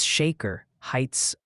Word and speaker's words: Shaker Heights: And please, for the love of weather, it's Shaker Heights, Ohio. Like a salt shaker, not a shark attack.